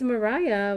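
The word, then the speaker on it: Mariya: She's like, "Well, it's Mariah blah blah blah."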